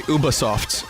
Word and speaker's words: Ubisoft: here at E3 Ubisoft let's do this sorry Ubisoft I learned yesterday how to pronounce it properly at the Microsoft conference Ubisoft